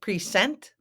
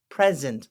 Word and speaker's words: present: know it looks like precent but it's not we pronounce it present like the S is a z z present or if